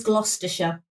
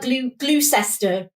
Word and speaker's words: Gloucestershire: It is Gloucestershire. Ooh, Wesley. Well done. We have quite a lot of like towns and counties that have kind of weird spellings that make it think that it's pronounced one way.